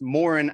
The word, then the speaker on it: Moran: It's Moran, actually. And, it's fine, completely fine for people not to know how to say it. But so that's Moran, actually, that comes from me saying, actually, it's Moran.